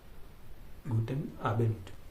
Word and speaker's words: Guten Abend: यहाँ पे एन में डी है लेकिन जब बोलेंगे आप तो ट होगा, उसका प्रोनाउंसिएशन में ट होगा उच्चारण। ठीक है, उसका उच्चारण ट होगा, गुटेन आबेंड।